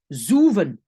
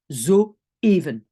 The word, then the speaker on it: zoeven: le E je vais prononcer zuven parce qu'il y a une voyelle en néerlandais au e c'est où c'est pas le but les petits points c'est pour dire attention ici on commence une nouvelle syllabe et on prononce zoeven ok même chose pour